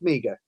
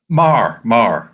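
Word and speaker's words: Meagher: is it pronounced Meager? Mar. Excuse me. It's one of those funny Irish pronunciations that those of us who are educated in other ways never quite get right.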